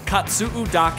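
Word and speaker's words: Katsuudake: we're doing is we're gonna hike what's called Kotzebue dock and we're gonna go up and up and at the top we're gonna get an amazing view of the island great pronunciation very good katsu dock 8 stands just over 1,400 feet above sea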